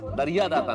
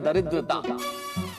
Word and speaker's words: दरिद्रता: दरिया दाता नहीं, इस शब्द का उच्चारण है दरिद्रता।